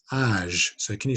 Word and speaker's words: âge: So âge, so even though it's the letter G, age, and in English we'd say age, so it'd be a j sound, but in French it's a j again, age.